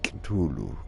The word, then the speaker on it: Cthulhu: I think that's how you that's how it's pronounced Kulu Kulu so yeah we are starting a new